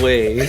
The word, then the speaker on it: Hwei: champ name Huey yeah hwei look at him he looks like a Hot Topic Oh you mean got him H pronounced way yeah like do you know the way way like AR the